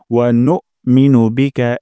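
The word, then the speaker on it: نؤمن: তারপর ওয়ানুমিনু বিকা, এখানে একটা ভুল হতে পারে। ওয়ানুমিনু বিকা, ওয়ানু এখানে হামজা উচ্চারণ হয় না অনেকেরই, তাই এখানে একটা শক্ত স্ট্রং সাউন্ড করব।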